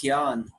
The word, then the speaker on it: Jnana: Gyan Yoga. It's usually spelled with the J-N, but it's pronounced Gyan, which means intelligence or knowledge, right?